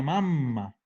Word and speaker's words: mamma: Porque insisto que el problema del italiano es que si yo no pronuncio las dobles, puedo estar hablando de otra palabra. Y de hecho, mama es del verbo mamare, que es mamar.